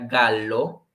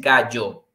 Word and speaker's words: gallo: también vimos obviamente que en español la pronunciación de la doble l ok que es yaya y yo yo y quede en italia no tiene su pronunciación como él porque entonces si lo diríamos en italia no sería galo pero recuerden que en pronunciación es gallo liso bruno ale la